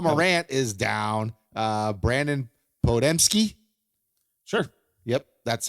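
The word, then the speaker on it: Podziemski: Uh Brandon Podmski.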